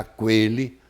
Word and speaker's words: aquele: você não precisava ter, mas você não vai pronunciar aquele, porque a palavra está sem trema, você fica em dúvida de saber se o U é pronunciado ou não é pronunciado.